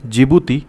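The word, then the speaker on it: Djibouti: क्योंकि हिंदी में तो ये शुरू होता है ज से जिबूती लेकिन इंग्लिश में शुरू होता है डी से। यहां डी क्या है? साइलेंट होता है। ठीक है? तो डी साइलेंट है।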